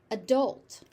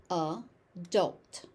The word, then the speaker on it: adult: Adult. Adult. That final T doesn't necessarily have to be aspirated.